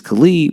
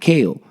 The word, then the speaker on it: Kalè: them trying to say my name which is Cle but if you read it it sounds like kale but in all reality